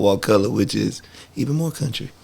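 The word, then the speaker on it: Wakulla: south of that in a a county called walcott which is even more country what color what color can you spell it for the folks that aren't familiar w-a-k-u-l-l-a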